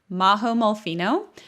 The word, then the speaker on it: Majo Molfino: available on instagram at mahomolphino majo spelled with a j so that's m-a-j-o and that's also my